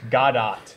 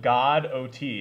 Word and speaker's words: Godot: Godot is pretty cool.